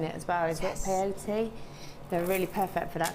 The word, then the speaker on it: peyote: think Debbie's shown it as well, is it peyote? They're really perfect for that because they I stick kept together. calling it coyote, didn't I? There's no wild dogs involved in, what's it called, IoT? Peyote. Oh, peyote.